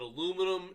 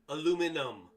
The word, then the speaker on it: aluminium: But aluminum is really readily able to do it.